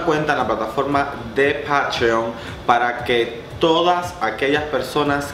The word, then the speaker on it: Patreon: más, pues búsquenme en Patreon. Se escribe P-A-T-R-E-O-N, es como en español decir patrón.